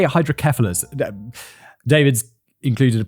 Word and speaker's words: hydrocephalus: I think we say hydrocephalus David's included a pronunciation guide but I believe that hydrocephalus hydrocephalus I'm not sure I think as kef Seth is pronounced kef in the UK like what's that common